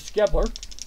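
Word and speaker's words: Schebler: I can pronounce it short. I'm going to pronounce it skull, like school. And I think I'm going to go with Skebler. That's what I'm going to do to make it easier for my mouth.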